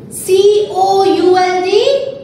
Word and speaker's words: could: C-O-U-L-D, could. C-O-U-L-D, could. Here also children, L is silent.